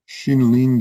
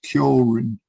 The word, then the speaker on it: Xinling: This one's titled Xinling's Meaning of the Coming from the West, or Xinling is the Chinese way of pronouncing his name. The Japanese way is Kyorin.